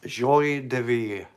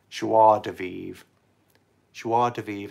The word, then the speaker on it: joie de vivre: And what it's going up against is Joy de Vivre. I probably said that wrong. Joy de Vivre. Or joie, that's how you say it. Joie de Vivre. I knew I was saying it wrong.